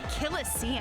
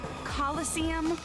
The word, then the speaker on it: Colosseum: it right there's no such thing as the killest scene yes no what it's pronounced coliseum which is an amphitheater made in ancient rome